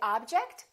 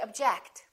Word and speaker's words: object: we say object or do we say object again it depends on if it's a verb or a noun object is a noun that's an interesting object or verb object I object to your decision let's practice some sentences